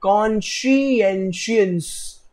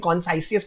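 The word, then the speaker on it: conscientious: कॉन्शियंशियस बेटा, ये बहुत इंटरेस्टिंग वर्ड है, कॉन्शियंशियस, कॉन्शियंशियस, सॉरी बेटा उसको लिख के ले लो स्पेलिंग, कॉन्साइसियस मत बोलना, ठीक है.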